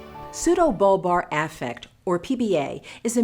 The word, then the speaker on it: pseudobulbar: Pseudobulbar Affect, or PBA, is a medical condition that results in sudden and uncontrollable episodes of laughing, crying, or both. PBA is pronounced pseudobulbar affect.